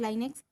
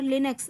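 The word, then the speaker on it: Linux: The first one इज़ लाइनेक्स। सो लाइनेक्स और लिनक्स दो type का प्रोनाउंसिएशन होता है, कुछ लोग इसको लिनक्स पढ़ते हैं, कुछ लोग लाइनेक्स पढ़ते हैं, है ना, तो बोथ आर करेक्ट।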